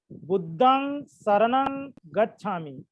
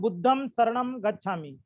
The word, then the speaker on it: बुद्धं शरणं गच्छामि: उच्चारण देखिए, कोई लोग लिख देते हैं बुद्धम शरणम गच्छामि। आप लोग बोलते समय भी बुद्धम शरणम गच्छामि बोलते हो। ये पूर्णतः अशुद्ध उच्चारण है और लिखना भी अशुद्ध है, क्योंकि पाली में ये जो हलंत है ये होता ही नहीं है ना।